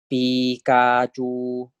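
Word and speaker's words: ปิกาจู: So these three words are pronounced as Pikachu.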